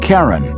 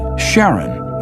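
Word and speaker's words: Charon: Christy suggested the name Karen after the Ferman of Pluto's underworld in Greek mythology but preferred to pronounce it Sharon more like his wife's name Charlene from the Motions of Pluto and Sharon astronomers could work out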